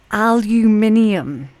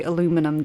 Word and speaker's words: aluminium: to laugh at me for the way I pronounce the next word and that's absolutely fine aluminium there we go I know you guys say aluminum don't you earthy green aluminium silate